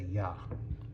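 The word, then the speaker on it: ياء: So, next letter is ya. And let's see how we write it. The ya is like this. Looks like a ba, right? But it has an extra curvature. This is the ya.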